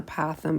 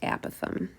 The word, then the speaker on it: apothem: An apithe, some people call it an apothem, but it's actually pronounced apath.